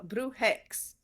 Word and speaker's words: Brujx: X at the end how do we pronounce this uh Brew hex Brew hex okay so the Brew hex